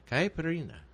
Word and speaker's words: caipirinha: No, I can't pronounce it. It says Caipirinha. Okay, well, that's another topic. Caipirinha.